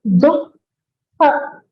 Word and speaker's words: दुःख: मा कश्चित् दुःखभाग् भवेत् मा कश्चित् दुःखभाग् भवेत् So it is duhu. So dukkha. That would be the correct pronunciation.